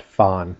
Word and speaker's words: FON: That's how we pronounce it out west. Fon. Not fun, but Fon. Hey, let's have some Fon with fluorine, oxygen, and nitrogen.